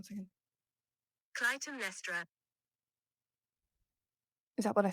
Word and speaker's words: Clytemnestra: I'm going to have to look up that pronunciation. Give me 1 second. Clytemnestra. Is that what I said? Did I get it right? Clytemnestra.